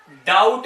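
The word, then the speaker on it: doubt: हर एक वर्ड में ध्यान दें, यहां भी टी से पहले इसलिए साइलेंट, डाउट में भी टी से पहले इसलिए साइलेंट, कॉम बी एम के बाद है इसलिए साइलेंट।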